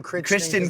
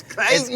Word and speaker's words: Crichton: We always call him Christian. Crichton. That's how it's spelled, but it's Crichton. It's Crichton because it's Scottish.